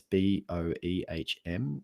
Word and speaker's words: Boehm: I think she pronounces her last name Boehm. It's Boehm. She's originally Austrian, but she's been in the US for a long time.